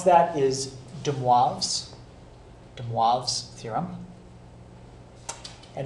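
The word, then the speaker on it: de Moivre: very very simple okay so the way you pronounce that is Dubois's de moi theorem and it's basically you can think of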